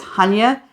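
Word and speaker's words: Chania: place we went after split we went to Hana cre in Greece now a lot of people pronounce Hana CH Chia c h a n i a but it's Hana on the island of cre in the Greek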